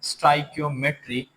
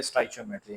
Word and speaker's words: stoichiometry: और अब हम स्टार्ट करते हैं चैप्टर नंबर वन जिसका नाम है स्ट्राइकमेट्री या बाज लोग उसको कहते हैं स्टाइकियोमेट्री। तो जिस तरह भी आप प्रोनाउंस करें सही है स्ट्राइक्योमेट्री या स्ट्राइक्योमेट्री। अब इसको हम स्टार्ट करते हैं।